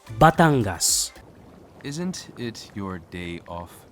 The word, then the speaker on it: Batangas: you at a convention in 2015 but it's pronounced batangas isn't it your day off tomorrow come with